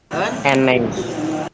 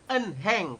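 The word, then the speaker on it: 은행: Jadi hanya hilang ya enggak? Nah, hanya kita abaikan. Eneng, dibacanya eneng, bukan enheng. Tulisannya enheng ya. Tapi kita membacanya eneng seperti itu.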